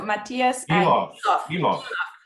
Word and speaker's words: Matías Guiloff: I talked with him about how to pronounce his last name, and then I immediately lost it. So Matías Guiloff.